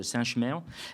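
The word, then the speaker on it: Saint-Chamond: avance en avant alors à saint-chamon qu'on prononce saint-chemè à Saint-Étienne et dans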